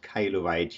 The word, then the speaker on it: Kailuweit: and it's pronounced my last name is a little trickier it's pronounced Kylie white you did that great